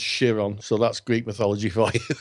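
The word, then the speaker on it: Chiron: shiron it's actually it's actually spelled Kiron but pronounced shiron so that's Greek mythology for yeah and um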